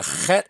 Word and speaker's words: Het: And the chet is pronounced in the throat. Sometimes people will say ch, but it would be a hard ch, kind of like in the name Bach.